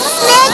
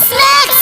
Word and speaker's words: snake: आपको स्नेक बोलते हैं, स्नैक्स नहीं। स्नेक की स्पेलिंग होती है SNAKE और SNACKS।